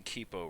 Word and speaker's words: Kipo: And then I'm Kipo, mid laner for PBnJ. Okay, so good news is I've been pronouncing Kipo, right? Yeah. Sweet.